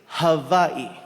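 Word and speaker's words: Hawaiʻi: First things first, the proper pronunciation is havi.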